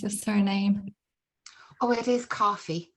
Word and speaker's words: Coffey: Oh, it is Coffey. It's spelt EY, but it's Coffey, yeah. It sounds the same as coffee. Okay, well, that's always good.